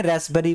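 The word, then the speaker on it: raspberry: ठीक है, अगला देखिए, रास्पबेरी, यहाँ पी वर्ड साइलेंट है, इसको रास्पबेरी नहीं पढ़ते, रास्पबेरी पढ़ते हैं।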